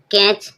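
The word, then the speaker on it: catch: कैच कैच means पकड़ना। टी के बाद जब सी एच आए तो टी साइलेंट रहेगा।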